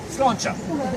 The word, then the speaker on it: sláinte: Yeah, sláinte.